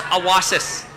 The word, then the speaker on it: Awasis: was little child and in Cree it's pronounced awasis so awas is solar